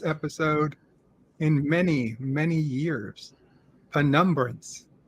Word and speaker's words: penumbra: in many many years penumbrance is that how you pronounce it by numbers penumbra is my understanding okay uh i would